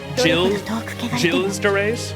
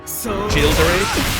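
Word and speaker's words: Gilles de Rais: The G is pronounced like a J. Gilles de Reyes. Gilles de Reyes.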